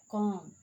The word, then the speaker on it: comb: The letter B is usually not pronounced after M at the end of a word.